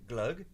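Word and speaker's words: gløgg: G and that's do I say it right glug yeah yeah you do yes how is it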